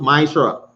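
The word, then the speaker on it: מעשר: verses 8 to 10 it means 10 in in the hebrew and it's pronounced maisha 10 of every penny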